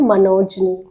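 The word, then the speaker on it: monogamy: देखिए वर्ड देखिए, इसका प्रोनाउंसिएशन है मनोजनी, मनोजनी।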